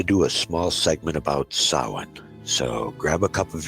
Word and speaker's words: Samhain: we wanted to do a small segment about Sawan so grab a couple of your favorite and let's have some fun so saw one pronunciations do vary a bit but Sawan as I'm saying it even though it seems